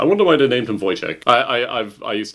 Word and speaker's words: Wojtek: I wonder why they named him Voyek.